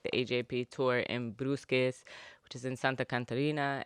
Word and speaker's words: Brusque: Brusque, yeah.